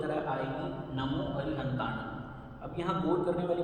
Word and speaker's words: नमो अरिहंताणं: शब्द है नमो अरिहंताणं। आपको इसमें गौर करना है कि अनुस्वार को कैसे बोलना है। नासिका से बोलना है जिसकी साउंड ग की तरह आएगी, नमो अरिहंताणं।